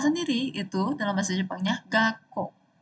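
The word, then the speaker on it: がっこう: Nah, untuk sekolah sendiri itu dalam bahasa Jepangnya gako. Gako ini itu perhatikan ya ada su kecil dan u juga di akhir jadi kayak gak ko. Gak ko. K-nya dua o-nya panjang.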